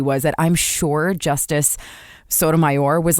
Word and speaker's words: Sotomayor: i remember that was sotomayer was a hot dog sotomayor is a supreme court oh my god no